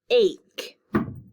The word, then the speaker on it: ache: some sneaky rule breakers sometimes ea doesn't make the long e and it doesn't make the short e it makes a long a sound like in this word ache what we learned the